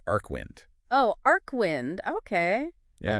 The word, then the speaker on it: Archwynd: It's Archwynd, and it's pronounced Arcwind.